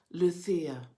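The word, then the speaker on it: Lucía: americans by lucia but this is pronounced with the spanish lisp lucia she was our spanish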